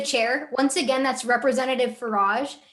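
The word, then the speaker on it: Faraj: Once again, that's Representative Farage. It's spelled F-A-R-A-J for all of the judges and everyone else inside the chamber.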